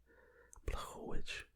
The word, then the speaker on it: Blachowicz: Israel Adesanya is officially going to fight Jan Blachowicz in Blachowicz, I think is how his last name is pronounced.